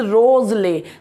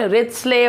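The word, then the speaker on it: Wriothesley: इट is dedicated to Henry रोजले, the pronunciation is रोजले, नॉट रिचले, और पता नहीं क्या क्या बेचारों के नाम का जो है बेड़ा गर्क करते रहते हैं।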